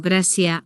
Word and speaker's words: gracias: Pero cuando un nativo dice gracias, tal vez suena como grasia o grasa dependiendo del país.